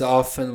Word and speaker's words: often: He meets often with a student. Ok, often. A maioria dos americanos não pronuncia o T.